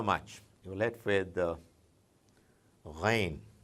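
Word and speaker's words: غين: Obviously you would be tempted to read it as Gain, Ghana. But no, it's not Ghana, it's not Gain, it's Ghain.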